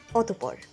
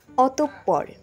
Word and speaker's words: অতঃপর: অনেকেই উচ্চারণ করে থাকেন অতঃপর, সঠিক উচ্চারণ অতঃপর।